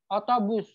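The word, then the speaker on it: otobüs: Tadi di dalam bahasa Turki, U yang ada titik duanya, cara membacanya itu manyunkan bibirnya ke depan, sebutkan huruf U. Otobus.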